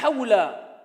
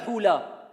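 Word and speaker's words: حول: La hawla, ce n'est pas la hula. Alors ici je rectifie un peu. Certains quand ils prononcent ils disent la hula wa la quwwata illa billah. La hawla.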